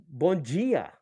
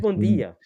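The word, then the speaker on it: bon dia: Uh, bonia. Bonia, right? That's how you say it. Or was it bondia?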